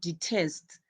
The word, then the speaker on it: detest: as you can see, when you are pronouncing the word detest, your word has two syllables, which is D and then test. This is a two-word syllable. We have D, we have test. But now, since we have a two-word syllable, that means our last part, which is test, will carry the stress.